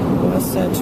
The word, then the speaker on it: Wasatch: Let me make sure I pronounce this properly. Wasatch Mountains in Utah, and it's the end of March, and it is snowing.